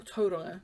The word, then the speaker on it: Tauranga: So, I've not filmed all that much this week since coming back from Tauranga, or Tauranga, to say it correctly.